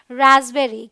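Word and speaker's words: raspberry: पर भी पी ट है और यह है रसबेरी क्या है रसबेरी ऑल राइट क्यू के उच्चारण के नियम में क्यू का जो साउंड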